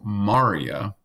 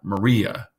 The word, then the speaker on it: maria: crater type areas so this is pronounced as Maurya and not Maria the lighter portion of